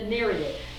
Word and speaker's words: Nereid: Okay, this is the Nereid, and I just learned how to pronounce that word because I looked it up on Wikipedia, and a Nereid is a sea nymph.